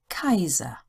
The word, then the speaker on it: Kaiser: the English I pronunciation a i is also pronounced as I hi my Kaiser your turn how do